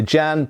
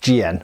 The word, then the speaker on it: jian: magnificent qu GN as some people might say jammed but I've been corrected it's pronounced GN or something close to that anyway and it's